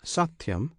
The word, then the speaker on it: Satyam: This Satyam consists of 3 syllables. one syllable is Sa, another Ti, the third Yam.